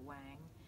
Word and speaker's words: Whang: It's spelled W-H-A-N-G, so people say Whang. And it's Korean, and it's a soft A sound. My father tells people it's like Don Juan. J-U-A-N is pronounced Juan, not Wan. Wan. Right? It's not Don Wan.